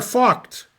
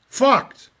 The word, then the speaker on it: Vogt: And if I pronounce the last guy's name correctly, it's Lothar Vogt. Vogt.